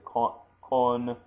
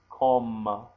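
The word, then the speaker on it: こんばんは: You don't say konbanwa, you say kombanwa, and that's just the way that it is naturally said. You don't say konbanwa. That's just a little bit clumsy.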